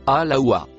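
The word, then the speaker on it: الهوى: Le dernier mot marron, se prononce « alawa ».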